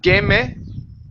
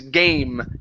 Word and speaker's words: game: the word game ok instead of gaming hey take off the a sound at the end the word is game and on an M game ok good so Jake